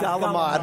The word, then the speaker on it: calamari: Galamad.